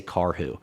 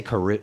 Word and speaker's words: Karhu: know how to pronounce if you can say car who people say Karu they don't know how to pronounce it it's a weird Finnish last name but yeah no